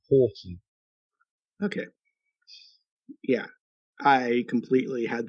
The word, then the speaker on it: Houghton: Uh, so it's Horton.